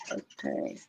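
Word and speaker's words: Otay: Otai. That's See, this is why English is hard. Are you kidding me? It's spelled O T A Y and you're saying it with T I E.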